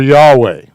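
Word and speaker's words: יהוה: In much Jewish stuff, you're going to see the double yud for Yahweh. It's their code reminding them, don't ever pronounce his name.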